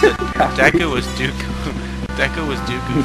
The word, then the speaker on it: Deku: when people just use, in Japanese, there's like, every vowel has a definite sound. There's no multiple sounds a vowel can make. And, they just use the definite sound for an E and a definite sound for a U because this game was Japanese.